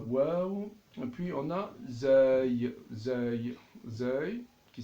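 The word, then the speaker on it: زاي: Donc en arabe, on appelle zay, zay.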